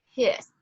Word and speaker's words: His: node we go down into this bundle of hist right here it's pronounced his not his um i don't know the reason for that but that is how it's pronounced um so the bundle of hiss here is where it goes off of your